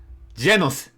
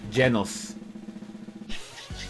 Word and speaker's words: Genos: Genos is the pronunciation, by the way. Genos.